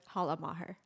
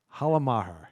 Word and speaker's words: Halla Maher: Halla Maher. Halla Maher.